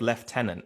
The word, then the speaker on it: lieutenant: while he's away but why the different pronunciation of left tenant well the British style left tenant appears to come from an old French variant of Leu that being Leu it's also possible that the U at the end of Leu was at one time pronounced as a v or F sound why have the British